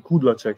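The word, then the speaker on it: Kudláček: colpito è il cognome kudlacek o kudlacek non so bene come Come pronunci sulla prima sulla prima S kudla Cheek Sì sì essendo anch'io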